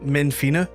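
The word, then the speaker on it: Menphina: Uh, how do you pronounce that? Menfina.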